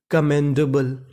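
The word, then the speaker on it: commendable: तो पूरी meaning कमेंडेबल।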